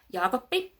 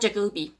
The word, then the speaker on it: Jaakoppi: doesn't bother me because it's not actually that wrong yopi it's not jagi or whatever that's not a it's like there's a there's two piece for for a reason we pronounce everything yopi